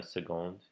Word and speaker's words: seconde: I always think it's funny how seconde is pronounced that way with a G.